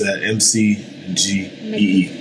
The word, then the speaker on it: McGhee: last name McGee so the H is silent so just m c g e e basically McGee right Jeremiah